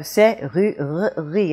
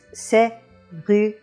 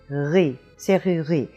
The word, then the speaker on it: serrurerie: And if you put it in there, you have serrurerie, and really that is pretty hard to say. But when it's dropped, it's serrurerie, serrurerie. Now, in the dropping of it, you do end up with 2 R's coming together. And when you have 2 R's coming together, it is a little bit of a problem. You don't say r, and you don't say one long R.